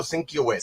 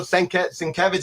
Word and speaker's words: Sienkiewicz: So these were just like, I mean, back then, how did we pronounce? We said Bill Sinkiewicz. Sinkiewicz, yeah, man. And to this day, I still mispronounce. And then Bill Sienkiewicz is actually like one of my dear friends.